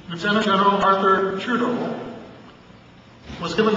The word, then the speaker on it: lieutenant: friend and boss, Lieutenant, I use the American pronunciation, Lieutenant General Arthur Trudeau, was given the task of doing something with it.